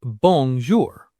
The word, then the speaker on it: bonjour: The word for hello is bonjour. Bonjour. Bonjour. Pause and repeat. Imagine you are eating a bone in a jewelry store. Bongjour.